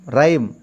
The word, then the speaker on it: rhyme: Consonant H is a silent. What is the meaning of the rhyme? Rhyme. Here I will write rhyme. That is the correct pronunciation, my dear.